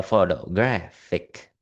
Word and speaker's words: photographic: The stress shifts from the first syllable, photograph, to the penultimate syllable, photographic.